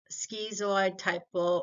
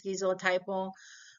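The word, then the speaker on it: schizotypal: most people dressed um that's skeo typle or SK skyo typo like however you want to learn and memorize the word I think the correct way to say the word is skizo typo um so um when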